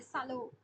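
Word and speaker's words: salon: বাংলায় বলে সভা, ইংরেজিতে বলে পার্টি, ফরাসিতে বলে সালো। এটা সালোর, সালোর ফরাসি শব্দ, মানে সবসময় একটা চন্দ্রবিন্দু উচ্চারিত হয়, মানে উচ্চারণ।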